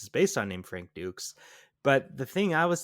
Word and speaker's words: Dux: Ducks.